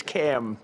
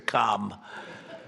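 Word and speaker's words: Kamla: It's cam, right? Cam as opposed to calm.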